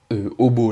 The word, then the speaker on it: обо: Enfin, c'est quoi le mot obo là, qu'on voit là, qui se prononce aba? C'est... en fait, c'est la préposition o, quand on l'utilise devant un mot qui commence par v et s, vs, comme vsie ou vsio, on doit la transformer en aba, telle qu'elle est là en fait.